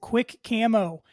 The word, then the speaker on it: Quik Camo: It is Quick Camo. Check those guys out over on Instagram or go to their website. It's spelled QUIK Camo.